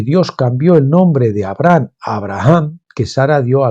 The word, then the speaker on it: Abraham: la gracia por tanto esta H se pronuncia porque exhala la respiración de una persona significa por lo tanto